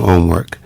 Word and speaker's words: HOMMEWRK: on, hence the name Homework. Yeah. That is dope. And it's spelled kind of different, too. Yeah, HOMMEWRK, Homework.